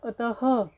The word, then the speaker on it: अतः: करते हैं तो हम विसर्ग का प्रयोग करते हैं जैसे कि अतः अब अतः ह की ध्वनि आपके मु से निकल रही है प्रातः तो प्रातः तो ह की ध्वनि है मतलब विसर्ग का उच्चारण हम ह के समान होता है मतलब जब हम विसर्ग का उच्चारण करेंगे तो ह की ध्वनि आएगी उसमें आज हमने इन वीडियो